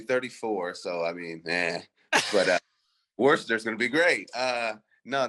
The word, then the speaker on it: Worcester: But, dude, Worcester's going to be popping for sure. Of course. And some people always say it, mispronounce it because it's spelled Warchester, but no one says it like that.